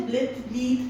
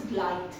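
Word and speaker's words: blithe: You will not say bleath, no, it is blight, B-L-I-T-H-E.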